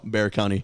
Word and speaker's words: Bexar County: county bexar county it's bear oh bear county yeah really yeah it's bear i did not know that that x is silent the x is silent uh it's weird that's